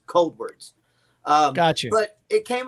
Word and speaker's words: Coldwards: up it kind of it's kind of pronounced like cold words but it's cold words got you but it